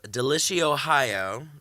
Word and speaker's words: Deliciohio: Am I saying that right? That's correct. Okay, because I was like delicious high. I was trying to like combine it in like 30 ways. People pronounce it wrong all the time.